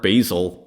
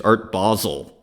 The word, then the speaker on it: Basel: like it's not art basil it's Art Basel okay because it may sound like a moot point and oh well who you know like but you show up to Art Basel and you start pronouncing it art basil it's just like it's just it's just one of those things so I totally appreciate